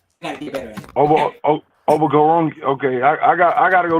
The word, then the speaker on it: Okoronkwo: It is Obo Okoronkwo. Gotta get better at it. Obo Okoronkwo.